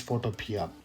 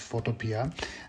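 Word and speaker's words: Photopea: so number second is photopia basically the runner-up showed coming is is photopia and many people and pronounce its photopia the developers say it's photo P so that's you know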